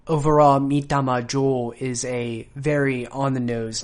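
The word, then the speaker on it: Mitama Jō: And also be sure to not diphthongize the vowel. So keep your tongue in one position throughout the duration of pronouncing the vowel. O, not O, like we like to do in English.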